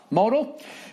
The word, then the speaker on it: modal: look good and feel fantastic note Modell is pronounced Modell modal the undies is made from modem over time